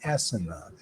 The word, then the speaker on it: asana: It's actually the pronunciation is asana.